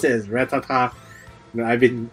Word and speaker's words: Rattata: Rattata I don't know I pronounce it as rattatta so fight me oh